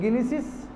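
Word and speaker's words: gneiss: तो गिनिसिस जी प्रोनाउंस नहीं करते, गिनिसिस एंड ग्रेनाइट्स, ये दो एलिमेंट्स है जिसकी वजह से इतना बड़ा ब्लॉक बना है।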